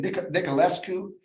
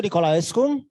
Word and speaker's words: Nicolaescu: of years ago, but you have to help me with his pronunciation. Niculescu, I think his name is Sergio Niculescu. He made Romanian films. Sergio Nicolaescu? Yes, that's exactly right.